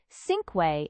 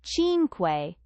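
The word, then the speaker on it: cinque: He'd said sinquay instead of chinq, the hard c sound instead of the soft.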